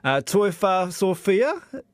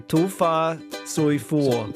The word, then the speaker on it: tofa soifua: My pronunciation might be wrong, so please help me if I've got it wrong. Toifa Sophia, is that right? Tofa. Tofa. Yeah, tofa is the word. Soifua. Soifua. Okay, tofa soifua.